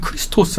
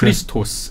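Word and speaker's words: Χριστός: 건 고대 이제 그리스어음 그리스어로는 크리스토스 아고 크리스토스 크리스토스 이렇게 발음합니다 그 말을 아 포르투갈이나이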